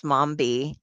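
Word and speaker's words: Mombi: on and I because her name is Mambi and that rhymes with zombie I thought of the cranberries and it's like which one's your head Mom, mom.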